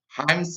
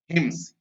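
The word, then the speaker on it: hymns: There she learned, और वहां उसने सीखा, सेवरल हिम्स, इसको भी कई लोग गलत प्रोनाउंसिएशन करते हैं, हाइम्स बोलते हैं, जो कि सही उच्चारण उसका होता है हिम्स।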